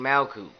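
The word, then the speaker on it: Malkuth: the ground you vibrate mal coot now this is not the correct spelling per se this is the correct pronunciation and you have this as long and drawn out as possible now after vibrating Mao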